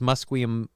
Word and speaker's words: Musqueam: The actual way it's pronounced in English in today's day and age is Musqueam, Musqueamville, or no, they're covering it with a leaf in there, and now I can't see it.